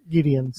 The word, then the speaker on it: Gideons: How do you pronounce the last name again? Gideons.